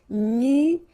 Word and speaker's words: nuageux: This can be quite tricky, but take the time to nuageux. Remember, final X here not pronounced.